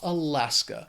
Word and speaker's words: Alaska: It has 3 syllables. The stress is on that second syllable. That final syllable just has that schwa, Alaska.